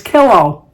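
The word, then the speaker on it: Killough: you cha cha cha it's also Melissa P killow she sent me pronunciation k i l l o u g h but pronounce it is a pillow so it's killow thank you Melissa happy birthday to you happy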